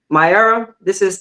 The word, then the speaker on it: My Era: So my era, and the name of my book is pronounced My Era.